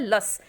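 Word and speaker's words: loess: उसको बोला जाता है लस। स्पेलिंग तो इसकी है LOE SS, लेकिन इसको बोलते हैं लस, ठीक है ना, इसकी जो प्रोनाउंसिएशन होता है वो लस, ठीक है।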